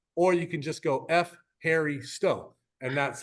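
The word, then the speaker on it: ευχαριστώ: you in greeko or you can just go f Harry Sto and that's how you say it very easily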